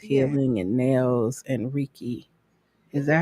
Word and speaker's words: Reiki: healing and nails and Reiki. Is that how you say it? Reiki.